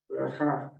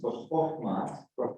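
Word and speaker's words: בחכמה: So it's pronounced b'chokhmah. Now, the reason for that, this is a little bit technical Hebrew, but if you look at the vowel that's underneath the chet, in chokhmah, you see it's like a bold.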